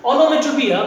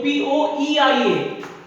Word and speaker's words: onomatopoeia: Now pronunciation onomatopoeia, but spelling will be onomatopoeia.